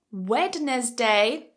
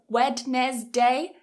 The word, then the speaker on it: Wednesday: how about this word that D is silent so if you say Wednesday Wednesday Wednesday so it's quite common to mispronounce this with three syllables wedness day and pronounce the d